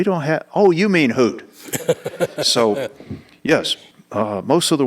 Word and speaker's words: Hoot: that we were training couldn't say hoot so it was hoot it was Hut so uh and I'm